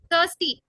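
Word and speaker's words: thirsty: Risk, थर्स्टी, थर्स्टी, थर्ड THUR, थर्स्टी कहते हैं इसको, थर्ड THUR, थर्स्टी, आई का साउंड नहीं है, STEY का साउंड नहीं है, थर्स्टी।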